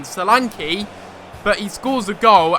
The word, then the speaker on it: Solanke: Salank, I said his name wrong again, Salane.